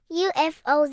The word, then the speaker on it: UFO: Here we say the letters UFO. That first sound is U.